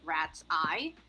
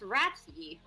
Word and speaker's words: Ratsye: It's supposed to be pronounced like rat's eye. But Rat's eye. The funny thing is that I keep reading it as Ratsy.